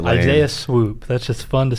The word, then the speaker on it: Swope: Isaiah Swoop. That's just fun to say. He's going to swoop in and come Do we to know Kentucky. it's swoop? It looks like it's spelled like swope to me.